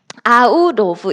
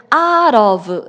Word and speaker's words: out of: 한 번만 짚어 드릴게요 out of 이렇게 내 음절로 읽지 마시고요 얘는 out of 이렇게 3음절로 읽으시면 돼요 out of the car